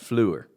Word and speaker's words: Fleur: want you to pronounce it. Fleur. Oh, Like sure. you are from the South. Fleur sure. That's how you had me do it, and that's how I had to remember. Fleur sure. Fleur sure.